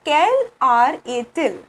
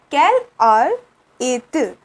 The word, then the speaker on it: quelle heure est-il: It is quelle heure est-il? Okay, quelle heure est-il? So here we pronounce a and il by merging the t and I.